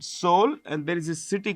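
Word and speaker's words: Seoul: But in which two cities highest number of passengers move in South Korea you know the capital is called soul the e is silent soul and there is a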